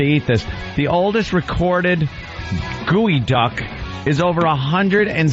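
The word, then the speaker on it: geoduck: up the field eyes hoping Anthony pronounced gooey duck species of largest saltwater clam also known as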